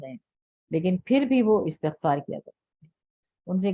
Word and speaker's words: استغفار: ہم لوگ اردو میں اس کو اکثر استغفار بولتے ہیں، تو تا سے کے نیچے زیر ہے، استغفار is the correct pronunciation.